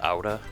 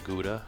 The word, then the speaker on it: Gouda: I believe it's pronounced Gouda, not Gouda like it's spelled.